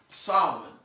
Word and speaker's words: Samhain: is not the way that it's spelled it is spelled s-a-m-h-a-i-n it it's it would be read as samhain that's how i when i saw it that's what i pronounced that's not how it's pronounced it's pronounced solomon okay and that particular day also is the